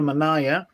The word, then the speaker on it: manaia: And I believe it's called a manaya or a manaia. How do you pronounce that? Yeah, it's called a manaya.